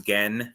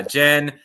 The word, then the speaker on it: Gen: There have been people who thought her name was Gen because it's written it's spelled Gen. Um, but it's like shortish for like Genevieve or something like that. Um, but yeah, Jen, Cordon, basically the only